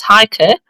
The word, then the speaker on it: Heike: No, no, she's saying it fine. It's Heike. I German.